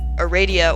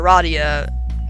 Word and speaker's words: Aradia: are ever really pronounced, there's a bit of a dispute over the pronunciation, so I'm just gonna say both versions, or triple versions, or whatever. The other trolls are Aradia or Aradia, Megiddo / Megiddo, wanted dead or alive.